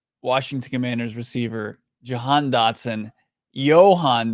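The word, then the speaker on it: Jahan: Commander's receiver Johan doson Johan doson pronounces it with a soft J and the a turns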